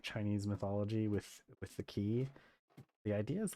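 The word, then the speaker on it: qi: They use key, which is spelled with a Q. I'm pretty sure it's still pronounced key.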